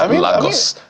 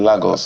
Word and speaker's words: Lagos: Well, if you're in Portugal, it's pronounced Lagos. I mean, somebody in Lagos, yeah, pronounced Lagos.